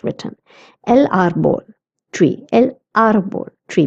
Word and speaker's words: árbol: El árbol, tree, because there's an accent on the A, so I will pronounce it as árbol.